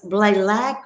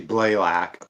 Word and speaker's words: Blalack: So was Blalick or Blalick? It's actually Blalack, but it's totally fine. I've been saying it wrong the whole time. Everybody always does.